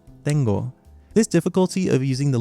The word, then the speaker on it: tengo: If you added the symbol for singular first person present to the verb tener, then you might assume that it should be pronounced as teno, but in actuality it's tengo.